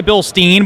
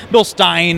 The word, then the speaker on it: Bilstein: yeah you could say Bilstein but it's a German company so bill Stein is the correct pronunciation